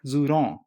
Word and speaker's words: Zhurong: The rover is called as Zhurong. The Chinese pronounce it like Zhurong.